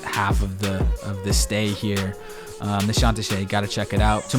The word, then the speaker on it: Nişantaşı: It looks like Nişantaşı. Nişantaşı is how you say it.